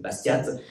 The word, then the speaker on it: Bastiat: Ça s'écrit avec un T à la fin, donc pas comme la ville de Bastia en Corse, mais voilà, c'est Bastiat.